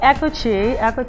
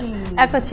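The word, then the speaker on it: Eccoci: Well, Ecochi is spelled, Ecochi, I always spell it, it's E-C-C-O-C-I.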